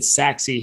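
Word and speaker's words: Sachse: so all right so now we're taking a look at saxi here and yes that's how it's pronounced is saxi and you can see the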